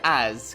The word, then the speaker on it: as: we have the word as connecting with I becoming as I notice that although as is spelled with s this letter sounds like Z as pronouncing it with